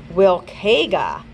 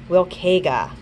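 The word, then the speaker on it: Wiilkayga: Bilkiga. Let's see if I pronounced that correctly. That was at the beginning. It's Wilkega, Wilkega, which means my son.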